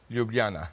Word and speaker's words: Ljubljana: for Sociology and Philosophy at the University of Ljubljana, correct? Say that right. Tolerable. Yes. Close enough? Yeah. How would you say it? Ljubljana. Yeah, see, you said. But nobody pronounces it correctly.